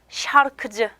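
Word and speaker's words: şarkıcı: 우리 앞에서 배운 요 세에다가 이렇게 꼬리 달아주시면 쉐 요 발음이 돼요. 그래서 요 쉐는 가수라는 단어를 통해서 단어 내에서 어떻게 발음이 되냐면 샤르크즈, 샤르크즈 이렇게 발음이 됩니다.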